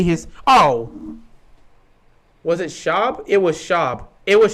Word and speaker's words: Schaub: So I would always be like, Matt Schwab. Like, I knew his name was Matt Schaub, and I knew that's how you pronounced it.